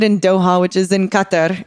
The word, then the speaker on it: Qatar: doha which is in qatar is how i don't they say cutter on games like sports games and i'm like just cut that or just say it like that it sounds better but um so it's